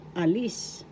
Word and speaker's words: alis: So a example alis alis depart in English alis first syllable a second syllable list the accent is in the second syllable al the partle elepant